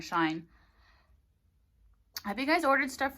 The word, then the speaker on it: Shein: There's that website called, I believe it's pronounced Shein, but a lot of people say Sheen or Shine.